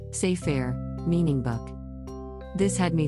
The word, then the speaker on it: sefer: terminology word sair as a Hebrew noun pronounced as sair meaning book this had me thinking what is the oldest record seir Torah ever found well oldest.